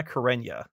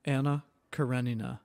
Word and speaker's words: Anna Karenina: at the end karenina anna karenina yeah it's the knee the knee gives you the it's called it's like a diphthong and there's no y in that pronunciation well of course it's